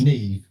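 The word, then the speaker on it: Niamh: He's like, "That's ne but it's pronounced ne."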